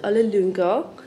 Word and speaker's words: Ole Lynggaard: Okay guys, we arrived to Ole Lynggaard, that's how you say it in Danish, flagship store in Copenhagen.